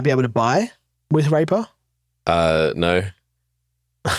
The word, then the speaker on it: RAPR: It's often shortened to RAPR and it's pronounced Raper. Okay. So, my retarded rape coin. Mainstream appeal on that one. Yeah, much. It's called Raper.